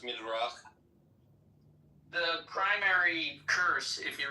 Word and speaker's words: Midrash: It's actually pronounced Midrach.